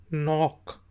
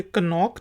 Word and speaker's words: knock: Word है जी KNOCK, नॉक। तो इसे कनॉक नहीं कहेंगे, नॉक, दरवाजे पर दस्तक देना, नॉक।